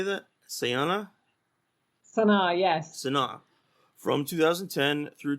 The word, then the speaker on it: Sana'a: Sana'a, yes.